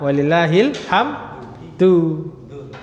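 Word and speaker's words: ولله الحمد: Lah itu kalau ditanya orang itu bacanya du da apa di, Mas? Nah, apa? Walillahil hamdu. Nah, pertanyaannya kenapa? Kenapa kok walillahil hamdu? Kenapa kok dhammah? Ya karena dia mubtada' muakhar. Ya, marfu dengan dhammah.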